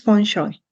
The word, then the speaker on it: Feng Shui: El correcto es Feng Shui. Feng Shui. Así es como se pronuncia, pero también depende de las localidades donde se pronuncie, también cambia un poquito.